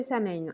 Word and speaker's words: Samhain: pour la fête de saigne alors moi je le prononce à la française puisque je n'ai pas de connotation en fait sur les fêtes dites de sorcières donc c'est pour ça